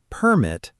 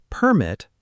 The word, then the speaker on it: permit: And permit, stress on the second part, is a verb, and it means to allow something.